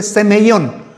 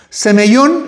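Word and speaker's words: σημεῖον: Y en el caso del Nuevo Testamento es eh la palabra es más es más difícil pronunciarla incluso fonáticamente semellón. Semeellón es lo que nosotros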